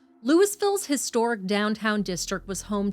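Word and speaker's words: Louisville's: same name in Kentucky locals pronounce the s in this Colorado Town name lewisville's Historic downtown district was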